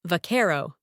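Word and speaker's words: vaquero: Buckaroo came from varero, cowboy, originally pronounced with accent on the second syllable.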